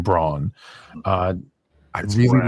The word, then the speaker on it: Braun: playing that role in Christian Brown even though they pronounce his name Braun uh I really like